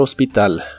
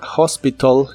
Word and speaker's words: hospital: La palabra hospital en inglés la puedes pronunciar como hospital o en inglés americano es muy común pronunciar la T de esta palabra como R y suena como hospital, hospital.